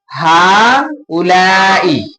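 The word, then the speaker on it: هؤلاء: और इसका प्रोनाउंसिएशन हाउलाई।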